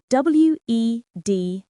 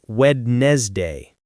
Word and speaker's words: Wednesday: The mistake is to pronounce it like it's spelled, saying Wednesday. The secret here is that the first D and the second E are completely silent. You just ignore them. The correct pronunciation only has 2 syllables.